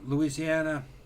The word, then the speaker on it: Louisiana: He says he's bouncing between Louisiana, that's the way you really pronounce it. Louisiana, Florida, Philly, New York, and Vegas.